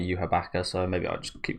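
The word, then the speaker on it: Yhwach: but I don't know it's spelled you what but it's said in the anime uaka so maybe I just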